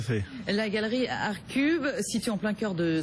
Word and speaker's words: ArtCube: Vous êtes le fondateur de la galerie Arcube. C'est comme ça hein, qu'on prononce. Tout à fait. La galerie Arcube, située en plein cœur de Saint-Germain-des-Prés, place Fürstensberg, qui est pleinement dédiée à l'art contemporain.